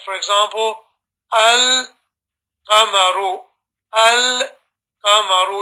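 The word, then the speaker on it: القمر: Like for example, al-qamaru. Al-qamaru. You put a sukoon on the lam and you read the next letter separately.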